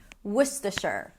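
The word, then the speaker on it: Worcester: So, let's break it down. The first syllable is w a w sound and the uh sound as in cook, look, book. Would woman w. The second syllable is st. Stu, an s sound, a t, and awah. Stu. It's almost like you want to say stuff, but a lot more reduced. Wor. The final syllable is sure. Sure as in sure.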